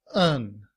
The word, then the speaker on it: and: However, in reduced form, and is pronounced un and combined with up, it sounds like upen.